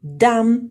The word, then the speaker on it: dumb: اوكي, he or she is a dumb person. Dumb person, هنا ما نقراش لو بي, قلنا لو بي كي يجي مور الام يكون silent B, silent B, we don't pronounce the letter B, dumb person.